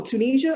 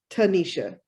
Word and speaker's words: Tanesha: They're like, oh, Tunisia. I'm like, no, that too is a country. It's Tanesha.